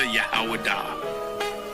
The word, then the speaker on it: Judah: When I say Judah, Yahawadah. That is the ancient pronunciation of the word.